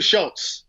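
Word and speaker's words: Schulz: pronounce that Krause Schultz but there's no T in it it's a Z it's like it's like Charles Schultz from the peanuts script hey Andrew Schultz yep yeah so he's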